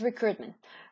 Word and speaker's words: recruitment: The last area we're going to be talking today is recruitment. Recruitment. You don't pronounce the I.